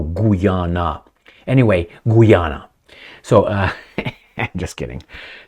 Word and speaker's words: Guyana: of a region in Guyana or Guyana. A friend of mine, I will not mention her name, it starts with a D. He said, "It's Guyana." And I said, "No, Guyana."